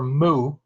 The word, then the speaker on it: mu: it it's actually the Greek letter mu pronounced you know like a cow says Moo it's the Greek letter